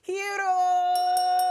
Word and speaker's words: Hierro: welcome co-host producer and me primo favorito hiro oh thank you oj you got my you actually pronounced my name right which is the reason